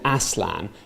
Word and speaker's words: Aslan: He pronounced it Aslan because ass is the Norse word for a god.